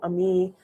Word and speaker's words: Amii: know my new name amii uh pronounce me just basically my name amina but take off the nu so ami um also i'm looking